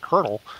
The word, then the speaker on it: colonel: there there have been there are some that say colonel if I'm not mistaken isn't it it's kind of like a French pronunciation yeah it's like it's like a weird thing but for some reason we say kernel when it's spelled that way the English language is